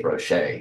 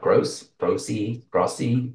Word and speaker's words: Groce: And actually, interesting you say Groce, because phonetically, that's correct, but most people are like Grossy.